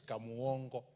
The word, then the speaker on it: Kamongo: honorable speaker honorable speaker it is kamongo that's the way we pronounce it down there and on behalf of